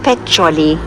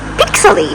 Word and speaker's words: Peccioli: have just arrived in pet choli which Google Earth calls our Google Maps calls pixely so we kept on saying oh we've arrived in Pitch silly obviously the pronunciation is not always the best oh that was it